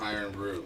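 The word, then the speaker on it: Irn-Bru: It's pronounced iron brew.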